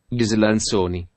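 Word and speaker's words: Ghislanzoni: Gislanzoni. Así es como se pronuncia.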